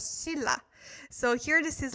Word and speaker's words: Silla: So I know it is written as Shinla, but it is more pronounced as Silla.